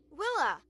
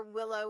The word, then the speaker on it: Willa: It's nice to be nice, Willa. Occasionally, I would hear a customer ask where Willow was, but it's Willow with an A.